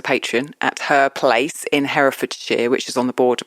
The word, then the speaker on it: Herefordshire: No, I always thought it was Herefordshire because we say Hereford for the cows. Oh, okay. No, Hereford. So we don't pronounce it Hereford.